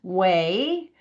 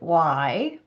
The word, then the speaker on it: WAI: So, as Crystal said, we're going to talk about the W3C Access Accessibility Initiative, initials W AI, which we pronounce way, but unfortunately screen readers pronounce it Y.